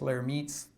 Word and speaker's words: Lhermitte: The other one is this Lhermitte's phenomenon. And Lhermitte was French, so that's why his name is pronounced like that.